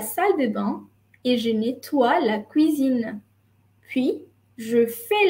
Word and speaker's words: nettoie: Ici, O, I, E, tu prononces OUA, je nettoie la cuisine.